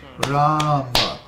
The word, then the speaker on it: Rama: Then Rama, Ram has a long A, and Ma has a short A. So Rama is pronounced Rama.